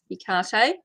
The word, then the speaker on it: Hecate: you like to say i know i say icarta but it can also be pronounced hectare it's actually greek hi black madonna hi